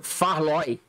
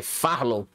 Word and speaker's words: Farlow: Beat, a Beat of Farloy. Farlow. Deixa eu pronunciar direito aqui, é Farlow.